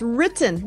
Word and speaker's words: written: It's written, not written, or right. whatever you said. It's Okay, written. Okay. Written, like Britain. Britain.